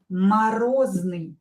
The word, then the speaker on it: морозный: Морозный. Морозный. Морозный. This is an adjective, frost, but an adjective. Морозный. Морозный. And here you can hear that I pronounce Z, морозный. Z here is in a strong position.